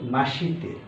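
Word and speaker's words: まして: কি দেখা গেল এখানে অক্ষর অনুযায়ী এটার উচ্চারণ হওয়া উচিত হাজি মে মাসি তে কিন্তু শি জায়গাটা খুব তাড়াতাড়ি বলা হয় মাসতে বলা হয় তো এজন্য বলার সময় মাসতে বাট লেখার সময় মাসিতে লিখতে হবে লেখার সময় মাসিতে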